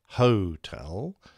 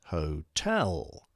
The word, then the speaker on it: Hotel: was the word chosen its spelling pronunciation and syllable emphasis was defined for example hotel isn't hotel it's hotel generally speaking or perhaps more correctly phonetically speaking